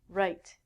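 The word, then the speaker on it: write: it next one is right it has the exact same pronunciation as this meaning your right hand right is what i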